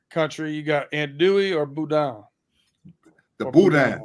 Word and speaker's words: boudin: No, it's boudin.